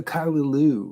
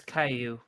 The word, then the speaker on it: Caillou: church all right yeah what's a what's a Kyu what's that one oh it's Caillou Caillou oh that's the name of that's how